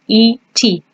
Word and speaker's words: et: So the word and is est. So just like the conjugation of the verb to be for you, he, and she, it's the same pronunciation, just a different spelling. Et.